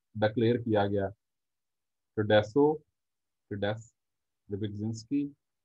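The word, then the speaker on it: Rybczynski: Silent इसमें कुछ भी नहीं है।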